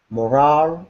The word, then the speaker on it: morale: moral booster moral booster morale booster this is different than Moral Moral is good or bad morale is how you feel whether you feel motivated or not morale is actually different